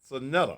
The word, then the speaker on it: Saneta: pronunciation of your name, man. My name is Saneta, brother Saneta. Saneta.